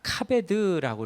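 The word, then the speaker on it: כבוד: 여기에이 히브리어로는 카베드라고 이렇게 발음하는데이 공경이라는 말이 하나님을 경외한다라고 할 때하고 똑같습니다.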